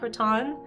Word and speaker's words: Raton: Yeah, or Raton, right? I'm saying it wrong. It's Raton, guys. If you ever listen to the radio station there, even though it's spelled like Raton, like baton, Raton, it's Raton. That's how they say it.